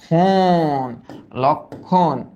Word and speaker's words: লক্ষণ: এখানে একটা ম ফলা আছে। তো ম ফলার কারণে কি হয়? নাসিক্য হয়। বাট এটা তো যুক্ত ব্যঞ্জনে বসছে। তো যুক্ত ব্যঞ্জনে মফলার কোন কিন্তু কাজ নাই। বাট ও একটু নাসিক্য করে দেয়। তাহলে এটা কি হবে? লক। ফাস্টে আমরা বলি লক। তারপর আমরা কি বলি? লক্ষণ।